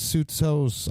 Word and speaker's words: Soutsos: Chris Soutsos, I hope I'm saying that right. He says that it's the Greek way of pronouncing it.